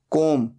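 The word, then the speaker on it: comb: hanging virus बाल बनाना कॉम कब यहां पर बी साइलेंट होता है सिर्फ बोला जाता है कॉम तीन फॉर्म्स होते हैं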